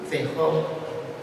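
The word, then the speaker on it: Feijóo: Another 18th century Spanish writer worth mentioning today is the monk Benito Jerónimo Feijó, not Feijó, Feijó, as some might mispronounce his name, who in 1739 published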